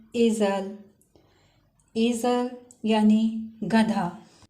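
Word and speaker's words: Esel: यहाँ पे इस लफ्ज़ में स्टार्ट का ए कुछ लॉन्ग प्रोनाउंस हुआ है और सेकंड वाला ए शॉर्ट प्रोनाउंस हुआ है, जैसे एज़ल। इसी तरह अगर ए के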